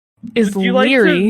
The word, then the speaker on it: Laoghaire: It is spelled Laoghaire. Leary.